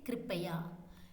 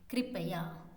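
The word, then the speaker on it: कृपया: Kripaya, kripaya, kripaya, kripaya.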